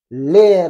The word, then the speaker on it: leer: Leer. Attention à prononcer les deux lettres. Les deux E.